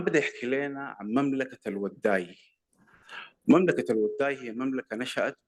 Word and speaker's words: الوداي: هو وأبنائه بيوضئوا الناس فلقبوا بالوضاي، ولأنه إحنا ما بنخفف الضاد ما بننطق ضاد فبقت الوداي.